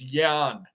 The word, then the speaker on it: Jan: win big my son-in-law's name is Jan pronounced Yan his Czech parents call